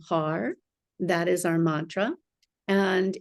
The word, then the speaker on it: Har: you pronounce the r have your tongue on the roof of your mouth sort of on the right behind the teeth for heart it makes